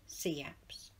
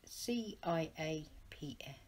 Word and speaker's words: CIAPS: from us is that we are pronounced sea apps those that have not experienced sea apps call it ciaps we are an innovative